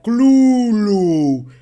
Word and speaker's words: Cthulhu: hace la misma pronunciación lcra dice que la forma más cercana de poder en teoría registrarlo sería clul Pero esa afirmación se